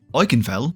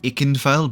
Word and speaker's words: Ikenfell: comments are feeling very V indicated right now I canfell I know it's pronounced ikenfell but I also don't care was actually recommended